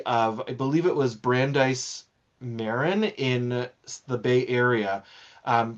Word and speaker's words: Brandeis Marin: did a study of I believe it was Brandeise Marin in the Bay Area. Um Brandeise Marin, I sorry if I'm mispronouncing Brandise Marin.